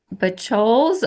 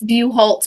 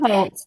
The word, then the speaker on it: Buholtz: Miss, is it Bachols or Miss Merlick? I can speak, Your Honor. Yes, ma'am. It's Buholtz, by the way. No one can say it or spell it. It's fine. Buholtz, thank you.